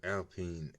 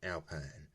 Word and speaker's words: Alpine: so I get it Alpine but no uh it's actually Alpine because you know it's a French brand probably uh you're bouncing